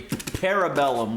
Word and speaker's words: Parabellum: To review John Wick, Chapter 3, Parabellum, which rhymes with cerebellum, no relation.